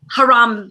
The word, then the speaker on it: Harambe: Not only is Nick a phenomenal young man, but he is the brains behind this genius Kickstarter campaign centered around the gorilla, Harambe.